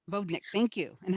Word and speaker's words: vodnik: how did you choose an is the word pronounced vladnik it's a vodnik vodnik thank you and how did you choose him